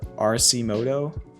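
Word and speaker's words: Arcimoto: no it's this one rc moto that's how you pronounce it it's not that similar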